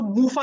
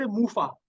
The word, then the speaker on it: MUFA: Spelling wrong है यहाँ पे, मोनो मैंने सैचुरेटेड लिख दिया, पर एक्चुअली ये मोनो अनसैचुरेटेड फैट है, जिसको मूफा कहते हैं, MUFA, मूफा।